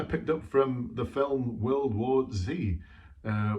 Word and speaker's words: World War Z: up from the film world war z uh world war zed depending on whether you believe in the american pronunciation or the british pronunciation anyway brad pitt wells